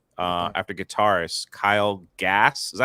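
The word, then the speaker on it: Kyle Gass: immediate deportation of Tenacious D uh after guitarist Kyle gas is that how you say his name yeah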